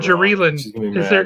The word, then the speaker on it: Geraldine: Geraldine, or is it Jerry Lynn? I'm not going to answer that because I'm. Or is it Jerry-Lynn? How does she pronounce it?